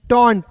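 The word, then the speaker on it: taunt: टी का ट, टी ए यू एन टी, टॉन्ट, टॉन्ट miss होता है दोस्तों ताना मारना।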